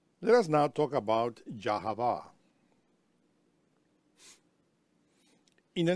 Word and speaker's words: Yahweh: In many lectures, we pronounce the name of Elohim as Yahweh.